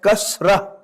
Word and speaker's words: Kasra: This is called Kasratun. And when you stop here, it will be pronounced as Kasra.